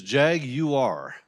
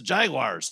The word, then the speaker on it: Jaguar: It's so uh so they say it's Jaguar. So, that's what it is for the car company.